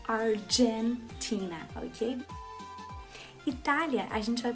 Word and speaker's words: Argentina: O G deles é pronunciado com J, então por isso Argentina, ok?